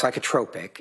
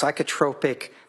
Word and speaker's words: psychotropic: It's pronounced psychotropic and okay it's psychotropic medication is uh medication that is prescribed to help treat symptoms of mental or emotional disorder.